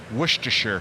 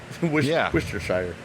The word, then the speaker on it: Worcestershire: So I don't even know if that's real because it's not the way it's spelled. The way it's spelled is Worcestershire. Well, a couple more Tito's and I won't even be able to spit that one out. Worcestershire.